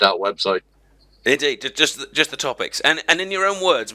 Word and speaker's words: TSTOtopix: Usually when I talk about it, I just refer to it as topics.